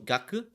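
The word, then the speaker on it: 学: it's determined um you you for this example you use the onyomi um pronunciation uh so gaku this is ga gaku gaku gaku and then life here is say that's say s-e-i say and you're gonna ask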